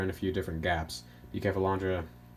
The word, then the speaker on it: Bucephalandra: Bucephalandra, or Buke, or Buse, people pronounce it a bunch of different ways.